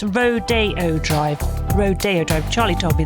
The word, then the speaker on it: Rodeo Drive: nice don't they can I just mention it's Rodeo Drive Rodeo Drive Charlie told me that but also